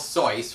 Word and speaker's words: Seuss: only medical expert called soy wrote a book about the post-war occupation of Japan I'm not even joking this book is actually about the post-war occupation of Japan and Seuss is actually pronounced so but that's not what